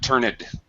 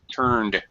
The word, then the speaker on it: turned: and CS turned red the past tense of turn is turned not turned turned one syllable okay turned red okay